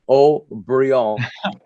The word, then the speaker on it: Haut-Brion: And her name is O'Brien, but the French pronounce it Haut-Brion.